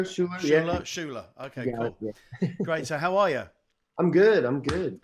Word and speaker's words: Schuller: Am I Appreciate pronouncing the name right? Schuller, Schuller, yeah. Schuller.